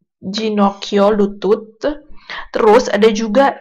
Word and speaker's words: Ginocchio: Yang kalau huruf G diikuti dengan huruf I dan E, jadi dibacanya adalah G, J, ya. Jadi, kayak dibaca kayak huruf J, gitu.